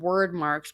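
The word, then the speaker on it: Wyrdmarks: they're like you can't they're called word marks but they're spelled w-y-r-d marks um words really and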